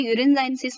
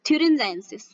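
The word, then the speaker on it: thuringiensis: अभी बैसिलस ये यूरिनजाइनेसिस नहीं है, ये है बैटिलस थ्यूरिनजाइनेसिस, सॉरी यूरिनजाइनेसिस है। सो आपको ये टीएच यहाँ पर साइलेंट हो जाएगा बच्चों, ये आपको गलती नहीं करनी है।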